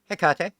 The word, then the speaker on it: Hecate: I'm going to say it wrong again. Hecate. Thank you for the sub. Hecate? I keep on wanting to say Hecate, but that's because I was educated in a public school in Texas.